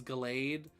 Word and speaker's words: Gallade: I know the correct way to pronounce it is Gallade. I've just always said it Gallade, and I will likely always say it Gallade.